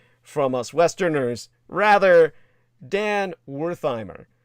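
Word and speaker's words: Werthimer: Rather, Dan Wertheimer, Wertheimer actually is the more Germanic pronunciation.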